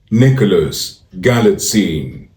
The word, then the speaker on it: Nicholas Galitzine: It's pronounced Nicholas Galitzine. Nicholas Galitzine. Nick-Lus Gal-It-Scene.